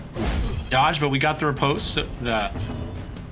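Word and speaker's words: riposte: Dodge, but we got the repose. The repose. I know the E gets pronounced. I just can't say it.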